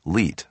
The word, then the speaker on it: LEET: as with the meme, it would be pronounced LEET, spelled L-E-E-T.